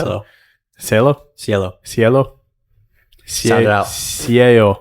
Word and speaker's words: Cielo: Cielo? Cielo. Cielo. Cielo. Cielo. That's the That's the one you can actually sound it out and get right. It's one L, so it's Cielo.